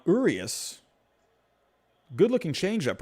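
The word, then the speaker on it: Urías: there from slater urius i guess i've been saying the name wrong this entire time i'm gonna have to get used to saying that um urius good looking change up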